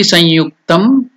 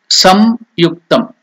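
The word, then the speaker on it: saṃyuktam: Now after Shakti Samyuktam, after that nasal sound Anunashika, when the ya comes, yakara, ya, yukta, then the pronunciation will become sanyuktam. You can't tell it as samyuktam or sangyuktam.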